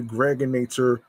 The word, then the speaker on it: Gregonator: I'm your man, aka the Gregonator, rhymes with now or later.